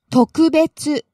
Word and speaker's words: 特別: Now I'm really starting to get the hang of this because you just, I know you started out low there and went high on the second syllable and stayed high.